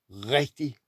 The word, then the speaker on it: rigtig: It goes like this: rigtig, rigtig, rigtig means real or right. Rigtig, You have to slow down and say rigtig, rigtig.